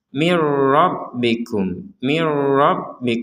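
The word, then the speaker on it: من ربكم: Kalau yang di sini ke sini tidak pakai dengung. Mirro langsung. Mirrabbikum, enggak ada dengung sama sekali.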